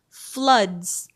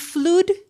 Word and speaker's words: floods: Sumatra floods. Ini yang bacanya masih flu salah ya? O2 emang dibacanya U, tapi enggak semua kata di bahasa Inggris kayak gitu. This one Sumatra floods. Floods. S-nya harus kedengaran.